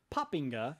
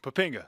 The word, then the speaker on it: Poppinga: Kelly Poppinga. You just told us that's the correct, the proper pronunciation.